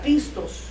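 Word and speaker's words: πιστός: la palabra fiel es una palabra que se pronuncia pistos eh en una ocasión me recuerdo que una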